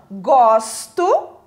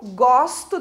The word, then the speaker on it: gosto: o seu significado então gosto conjugação do verbo gostar eu gosto de amendoim é com esse o mais aberto com esse som aberto agora gosto são fechado